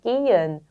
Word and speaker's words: gehen: 그리고 요 발음이 기엔이라고 읽혔던 게 게헨이라고 하지 않는다는 거죠. 근데 어떤 독일인은 또 게헨이라고 네. 읽는 사람도 있긴 있는데 이것도 표준어로 따지자면 기엔, 묵음이 되는 것이 맞습니다.